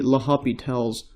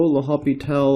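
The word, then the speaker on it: L'Hôpital: my early videos the L'Hopital's rule. So L'Hopital or L'Hospital's rule, however you want to pronounce this, so L'Hopital's rule like this.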